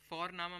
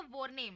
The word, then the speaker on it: Vorname: और हम यहाँ पे फोरनामा प्रोनाउंस करते हैं बट लिखते हैं उसको VORNAME. ओके, तो वो हम इंग्लिश के अनुसार प्रोनाउंस करेंगे तो बनेगा वॉरनेम, बट नो, इट्स फोरनामा.